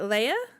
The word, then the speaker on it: Laya: I'm pretty sure it's Laya because you said it's like Maya with an L, right? It's like Maya, but with an L. Yeah. Am I saying it wrong? Is it Leia?